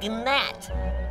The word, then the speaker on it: gnat: me you are a gnat it's a g silent it's not are you calling me